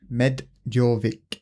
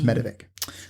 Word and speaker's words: medovik: we're talking about medovic medic it's me d o v i k but I would just call it medic but obviously there's some sort of Russian accent pronunciation twang to it so I'm going to